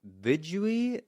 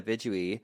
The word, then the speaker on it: Vidui: And then in Judaism, there's Vidui, I believe is how you pronounce it.